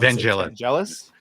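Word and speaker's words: Vangelis: Vanalis. Vanalis. It's not gel, it's gal. It's a hard G.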